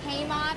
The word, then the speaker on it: Haimov: I'm not sure how to pronounce this. Haimov. It's Haimov.